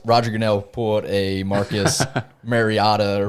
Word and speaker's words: Mariota: yeah, unless Roger Goodell pulled a Marcus Mariota or Mariota.